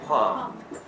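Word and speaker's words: palm: پالم دو تا داریم یه نخل پالم دو بریم یکم پالمه به معنی کف دسته چون الش تلفظ نمیشه تلفظ چی پام پس کف دست میشه چی پام ولی این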